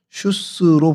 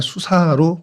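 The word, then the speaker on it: شوش: 페르시아로 슈스로 부르고 있습니다. 그러니까 같은 어 단어인데 이제 발음이 좀 페르시아로 가면서 조금 변형된 것이 슈스입니다. 그래서 어 슈스라고 하고 또 영어로는 구글 지도나 이런 데는 그냥 수사로 표현이 되고 있습니다.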